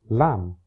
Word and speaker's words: lamb: Similarly, the B at the end of tomb, lamb, and thumb is no longer pronounced, but thimble still has it.